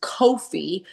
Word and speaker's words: Kofi: In Ghana, it's pronounced Kofi.